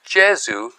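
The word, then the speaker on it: Gesù: But the home base of the Jesuits is the church of the Jezu. Gesu with a G.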